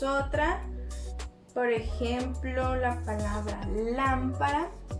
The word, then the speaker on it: lámpara: Lámpara está tildada y es una palabra esdrújula. ¿Y cómo lo sabemos? Pues si dividimos nosotros nuestras palabras en sílabas, pues vamos a ver que acá tenemos lámpara. Entonces sería última, penúltima, antepenúltima, ¿sí?